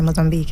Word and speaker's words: Mozambique: He died of a heart attack in Maputo in Mozambique. That's how it's pronounced, actually, Mozambique.